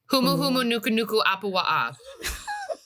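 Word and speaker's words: Humuhumunukunukuāpuaʻa: Humu humu nuku nuku apuwa'a.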